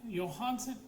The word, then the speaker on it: Johansson: And Scarlet Johan Johansson, that's how you pronounce her name. Johansson, not Johansson. Danish idiots learn.